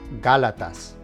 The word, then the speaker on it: Gálatas: Even though it ends with the letter S, the emphasis is on the letter that has the accent. So the correct pronunciation would be Gálatas.